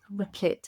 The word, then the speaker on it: Replit: But Replete? I don't think you're asking the Oh. right person here, considering I'm the person that gets every name wrong. Replit. I'm going to say lit because it's LIT.